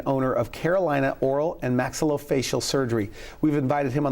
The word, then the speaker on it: maxillofacial: Maxillofacial surgeon.